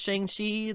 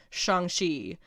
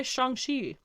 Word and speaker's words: Shang-Chi: Several episodes ago, I was talking about the upcoming Shang-Chi movie, and I would just like to make the note that I know everybody says Shang-Chi, that's what we all know.